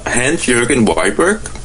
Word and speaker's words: Hans Jørgen Wiberg: best not to butcher your name, but my pronunciation is not very good. Could you please say your full name for me? Hans Jørgen Wiberg.